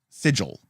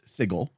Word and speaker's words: Sigil: be have declared that it is actually pronounced sigil it is not pronounced sigle um it is pronounced